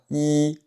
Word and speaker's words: 一: ton avec le caractère "i" "i". Donc par défaut, ce caractère, est prononcé avec le premier ton.